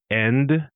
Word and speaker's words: end: So, we drop the D's at the end of words, but not all of them. So, end becomes en. The end of a sentence instead of the end of a sentence.